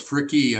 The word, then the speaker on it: Fricke: Fricke. I pronounce the E on the end.